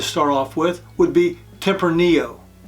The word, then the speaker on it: tempranillo: off with would be tempranillo many people call this tempronillo but the correct pronunciation is tempranillo temporaneo wine comes from